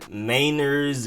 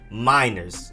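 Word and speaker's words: Meinerz: get them quinn miners i was saying mainers and all kinds of stuff in the beginning but it's just simply quinn miners like mai then you have defensive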